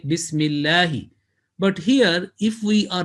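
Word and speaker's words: بسم الله: places they will say okay this will be bismillah not bismillahi but basically the right pronunciation will be bismillahi again you will find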